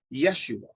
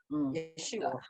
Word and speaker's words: Yeshua: to Israel um it it won't be pronounced Jesus it'll be pronounced Yeshua Yeshua yeah would be pronounced